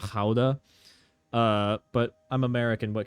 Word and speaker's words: Gouda: And I apologize to all of my Dutch viewers for pronouncing it gouda and not ha.